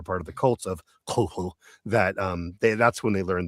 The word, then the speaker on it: Cthulhu: Cthulhu is the way everyone kind of says it, and that's sort of the accepted pronunciation. But the phonetic version that Lovecraft writes out is Cthulhu.